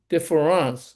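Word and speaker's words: différance: He pronounced it deferance which sounds like a French word but actually he's actually talking about deferring what is already known in order to seek the unknown unknown.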